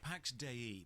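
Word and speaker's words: Pax Dei: properties and died only one year later 165 Pax de that's how it's pronounced the developers said so is is a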